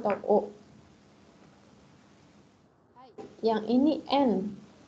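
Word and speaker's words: ん: hai hai yang ini n n ini kalau di Jepang agak Tengah gitu ya bukan n secara jelas tapi enggak enggak mendengung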